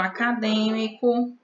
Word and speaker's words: acadêmico: Acadêmico, a última sílaba é o có, o mi é a penúltima sílaba e o d é a antepenúltima.